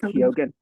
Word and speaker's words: Keoghan: How do you pronounce it? I think it's Keoghan. Barry Yeah. It's Keoghan, like Barry Keoghan.